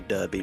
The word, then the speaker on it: Derby: The one in Derby did close during COVID, and that was like one of two. Whereas most people see that spelled and say Derby, but it's pronounced Derby.